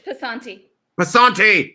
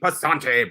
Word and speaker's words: Passante: It's Passante. Passante.